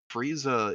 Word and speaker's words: Frieza: They didn't even like try to do any wordplay with it, like Frieza? Nope. It's literally just Freezer. Frieza is literally how they pronounce Freezer.